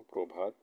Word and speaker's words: প্রভাত: 5 নম্বর নিয়মে দেওয়া হয়েছে শব্দের শব্দের প্রথমে অ এরপরে র ফলা ব্যবহার হলে অয়ের উচ্চারণ ওকারের মতো হবে। যেমন প্রভাত প্রভাত, অর্থাৎ প্রভাত প্রভাত, আর প্রকৃত প্রকৃত।